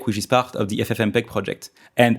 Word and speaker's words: FFmpeg: Pour être plus précis, libavcodec qui fait partie du projet FFmpeg et FFmpeg étant un projet français, il faut maintenant aussi le prononcer avec un accent français !